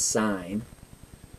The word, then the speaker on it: sine: So when you see S-I-N, it's not pronounced sin, it's pronounced sine.